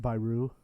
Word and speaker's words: Beirut: at the island who was supposedly killed in beirut so it's pronounced by rue well well well well yeah that wraps up